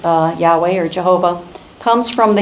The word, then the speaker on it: Yahweh: God's personal name YH wh which we often pronounce Yahweh or Jehovah comes from the Hebrew word which